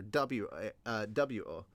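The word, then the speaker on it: を: hiragana and katakana and when I say the O is technically right it's true but it's actually you use the wou character wi-wo but it's pronounced o if you're trying to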